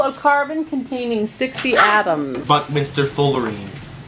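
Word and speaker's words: buckminsterfullerene: The first syllable is buck-min-ster-ful-ler-reen. Oh, Reen? Een, is that last one? Een. So, Buckminster Fullerene.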